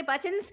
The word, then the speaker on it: button: I just pronounce my T's Button. because there are T's Yes.